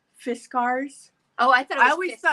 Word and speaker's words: Fiskars: is really a cool, it's a I always pronounce it wrong. Fiskars. Oh, I thought it was I always Fiskars. thought it Fiskars, but at CHA, when we used to go to CHA, they called it Fiskars.